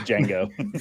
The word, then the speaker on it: Django: It's like Django.